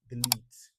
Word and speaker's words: delete: Yeah, normally LET should be pronounced as let, but in this environment where we've got the magic E coming after it, we pronounce delete.